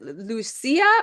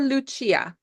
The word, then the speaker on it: Lucia: Both are equally great. You know why? Because Lucia is how they call me in Switzerland. Even though I'm Swiss German from Zurich, it would be Lucia.